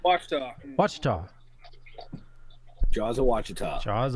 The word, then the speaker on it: Wichita: And it's Jaws of Wichita. Did I say it right? Wachita.